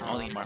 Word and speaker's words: Olimar: Olimar, let's go.